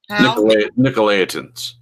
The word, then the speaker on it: Nicolaitans: How do you pronounce Nicolaitan? Nicolaitans.